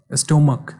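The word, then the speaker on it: stomach: cruise, तो cruise का plural cruises, class, classes, box, boxes, स्टोमक, देखो स्टोमक, स्टोमक, तो क था हमारा, तो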